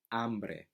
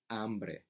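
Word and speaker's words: hambre: explicitly it's mostly silent so for example the word for hunger you know in English was a hot hunger in Spanish its ombre ombre so that word begins with H even though which you first here is an ay ambre means hunger or amber Jessa I'm bored esse hamburger right so it's silent and that's how that's how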